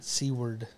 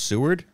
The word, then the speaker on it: Seward: Seward. Ooh. Yeah, it's not pronounced Seward? It's pronounced Seward.